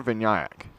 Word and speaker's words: Vinayak: Vinayak is the right Vinayak?